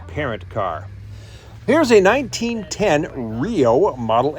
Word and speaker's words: REO: It's always pronounced Rio.